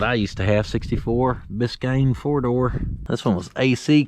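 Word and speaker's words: Biscayne: them as Impala belir biscan or bisayan if uh you pron it like I pronounced it the first time I seen it she's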